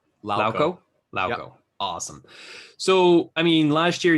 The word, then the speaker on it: Lauko: Lauko.